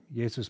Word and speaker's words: Jesu: So this is the famous, actually, in German, it'd probably be Jesus, right? In German, a J is pronounced like a Y. Jesus bleibet meine Freude.